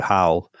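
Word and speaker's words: HOWL: on with some other very smart people called how um which I because of my pronunciation h o WL how okay how not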